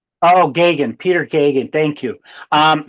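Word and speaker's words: Geoghegan: Is it Gregorian? Is that how you say his last name? It's like Reagan but Gagan. Oh, Gagan.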